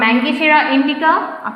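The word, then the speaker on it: Mangifera indica: যেমন ধান, দেখো আমি জাস্ট স্পেলিংটা ইয়েটা বলে দিই, উচ্চারণটা বলে দিই, প্রোনাউন্সিয়েশন। ওরাইজা sativa, ওরাইজা sativa. পাট হচ্ছে কোচোরাস ক্যাপসুলারিস। আম ম্যাঙ্গিফেরা ইন্ডিকা, কাঁঠাল আর্টোকার্পাস হেটেরোফিলাস।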